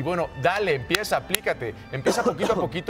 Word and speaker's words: aplícate: que la intención sea aplícate. Venga, ¿por qué me estoy trabando retrógrada? No está Mercurio, retrógrado. Sí está. Oye, bien, me gusta. Aplícate. Acento en la A.